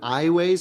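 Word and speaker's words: Aiways: I was next to an iWays. Is that how you say it? iWays, yes.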